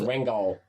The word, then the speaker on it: Ringgold: My house is in this little town in Georgia called Ringgold. It's about Pronounced Rangol.